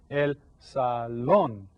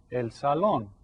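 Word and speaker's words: salón: Sal and you see this has an accent right there El Sal so you stress that syllable El Salon so this is probably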